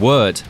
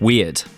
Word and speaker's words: Wyrd: your screen and yes that is how you pronounce it it's web of words not web of weird oh I you trespass